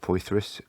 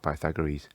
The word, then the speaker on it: Poythress: It stars Scott Poythress. I think that's how you pronounce it. I keep wanting to call him Scott Pythagoras, but it looks like Poythress.